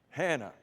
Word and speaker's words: Hannah: Elkanah, and her name rhymes with Elkanah. Hannah.